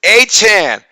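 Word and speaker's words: Etienne: right uh michael so uh we calling travis a-chan a-chan he's from louisiana so louisiana is pronounced hm he just said he just told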